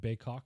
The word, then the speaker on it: Baykok: so we're going to go with the pronunciation bacock for this one it is anglicized but we are also anglicized so I think we'll